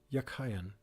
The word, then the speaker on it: Jachin: The word jukin in Hebrew is something. It was probably pronounced yakayan and meant as a verbal noun, he that strengthens and thence firm, stable, upright.